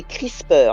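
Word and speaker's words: CRISPR: ça les recherches he ça s'appelle des crispers alors ça c'est cr i sr mais ça se prononce crisper et en fait c'est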